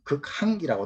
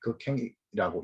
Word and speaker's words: 극항: 극행, 그 끝자 써서 끝까지 높인다라고 해서 어떤 경우에 극항이라고 하는데, 줄항이는 라인, 줄이라는 뜻이기 때문에 항이라고 읽어야 되지만은 오늘날은 발음이 행으로 다 바뀌었기 때문에 극행이라고 읽어도 크게 무방할 것 같습니다.